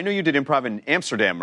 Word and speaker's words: Amsterdam: I'm going to start going with Amsterdam. Are you doing that just to with people? No, it's actually that's how You're the Dutch supposed to say pronounce it. That's how the Dutch pronounce it. Amsterdam.